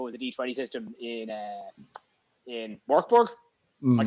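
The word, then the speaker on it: Mörk Borg: asking if it was a D20 system in Morkborg. Am I correct in pronouncing that? Morkborg, yeah.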